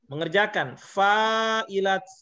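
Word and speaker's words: فاعلات: Fa'ilat. Kalau menunjukkan banyak perempuan yang mengerjakan, ditambah lagi alif dan tak di belakangnya. Makanya cara bacanya fa'ilat. La-nya dipanjangin tadi. Fa'ilat.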